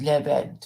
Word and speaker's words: Levent: And so to pronounce it in full is Levent, is it? Yeah. Correct. Spot on.